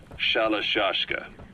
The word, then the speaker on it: Shalashaska: The guerrillas somewhere along the line shashka got stuck on the end of sharashka. The guerrillas were using the name amongst themselves, and by the time I got to hearing about it, pronunciation had wound up as Shalashaska.